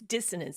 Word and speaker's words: dissonance: And by the way, we often say it wrong. I usually add a D in there and there's no D's. It's dissonance.